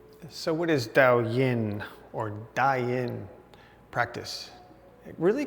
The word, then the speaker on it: Daoyin: And I pronounce it Dao Yin, but it's Daoyin.